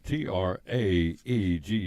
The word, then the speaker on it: Traeger: again uh these are it's spelled t-r-a-e-g-e-r pronounced Traeger yep and we've got all